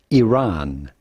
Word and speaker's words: Iran: It's pronounced Iran. Iran.